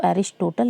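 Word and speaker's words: Aristotle: या अरस्तु ठीक है अ को एरिस्टोटल भी इसलिए क्योंकि इंग्लिश में जो इनकी स्पेलिंग होती ना ऐसे लिखा होता है ना एरिस्टोटल ए आर आई एस टी य टी एल ई ठीक है इसलिए लोग एरिस्टोटल भी बोलते हैं ठीक है अरस्तु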